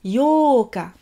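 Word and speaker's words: 八日: Ensuite, pour le 8, yoka. À ne pas confondre avec le 4, qui est yokka. Ici, pour le 8, on allonge le O. Yoka.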